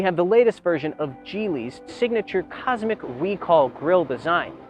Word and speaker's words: Geely: chinese manufacturer gili yes it's pronounced jeely not gili jili has been making